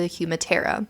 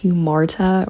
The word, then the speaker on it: hamartia: This critical flaw is known as the humartia. When editing, I realized I mispronounced this word entirely. It's hamartia or hamartia.